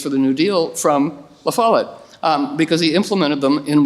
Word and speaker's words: La Follette: And I learned after my dad died that he was a big supporter of Fighting Bob La Follette, right? Thank you. Say it correctly. La Follette.